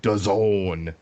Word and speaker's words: DAZN: versus Solomon on DAZN. Jesse, what does DAZN rhyme with? Calzone, sir. Goddamn right.